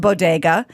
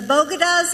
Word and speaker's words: bodega: biden's attempted a compliment stumble a little she mispronounced bodega and made this taco comment here's the clip diversity of this community as distinct as the bogotas of the bronx as beautiful as the blossoms